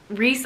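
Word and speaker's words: Rhys: Reese, I love the name Reese, and it's spelled R-H-Y-S. It's spelled R-H-Y-S.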